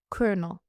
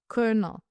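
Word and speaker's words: colonel: Now kernel doesn't sound correct when you look at the spelling because I'm not sure so you can check.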